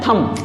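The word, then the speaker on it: thumb: ये जो अंगूठा है इसको कहते हैं थंब थंब ना की थंब इसमें एम के बाद भी है तो बी आपका इसमें साइलेंट है इसको हम पढ़ेंगे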